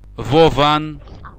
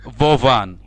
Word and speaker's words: Vovan: Their name are Vovan and Lexus. Lexus, and what was the first one? Vovan.